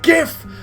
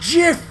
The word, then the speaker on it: GIF: name that's Steve guy it's pronounced GIF not GIF it's not a cleaning fluid can you turn down